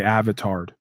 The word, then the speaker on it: avatared: Accent on the tard when I say avatared.